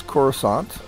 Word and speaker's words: Kursant: I looked up to find out how to pronounce this since corant which says Cadet which the list is abua